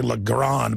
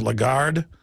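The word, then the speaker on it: Lagarde: you pronounce her name I always say lron but it's a legard the point is is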